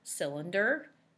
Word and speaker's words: cylinder: It sounds like it should be an S. But when CY is together, it makes this sound. And another word that has a CY making that sound is bicycle. It also is CY.